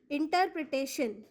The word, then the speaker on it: interpretation: The right answer is INTER becomes inter, PRE becomes pre, TA becomes te और TION becomes शन, इसलिए इस शब्द का सही उच्चारण होगा इंटरप्रिटेशन।